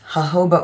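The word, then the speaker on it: jojoba: Hoba oil, I think, is because it's a Spanish word, so the J's are pronounced like H's, I believe.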